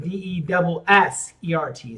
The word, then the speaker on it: dessert: Pronunciation. Now, here's a tricky one. There's D-E-S-E-R-T and D-E-S-S-E-R-T.